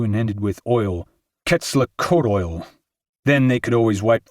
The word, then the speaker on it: Quetzalcoatl: "Hey, Alex, you mispronounced Quetzalcoatl. It goes Quetzalcoatl. Like coyote goes coyote.